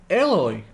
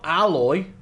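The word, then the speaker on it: Aloy: there's still people that don't know how to pronounce ehlers's name is eloy no alloy oh face paint the shield is an energy-based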